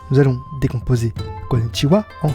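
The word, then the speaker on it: こんにちは: pour faire ce son on met le bout de sa langue derrière les dents du haut et on prononce vous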